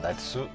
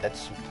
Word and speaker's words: Natsu: une intonation comme Natsu. Au lieu de Nats, on dit Natsu.